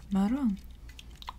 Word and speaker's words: marrón: But we have brown, and in Spanish you would say marrón. Marrón. And that's spelled M-A-R-R-O-N, marrón.